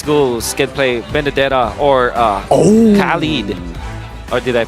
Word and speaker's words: Khalid: I wonder if Burmese Ghouls can play Benedetta or Khalid. Or did I pronounce that correctly? Yeah, Khalid.